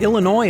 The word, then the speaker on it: Illinois: because we Lincoln believe Illinois is worth saving and here's why by the way the S is silent and there's an ongoing